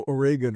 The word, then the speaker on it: Oregon: You grew up in Eugene, Oregon. God, you even pronounced it right. Most people who don't grow up in Oregon go Oregon or something like that. Oh, really? Yeah, it's Oregon.